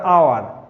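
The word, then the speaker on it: hour: তারপরে আওয়ার, এখানে এইচ এর উচ্চারণ কি আসতেছে? আ আসতেছে। অনারেবল, এখানে এইচ এর উচ্চারণ আসতেছে অ।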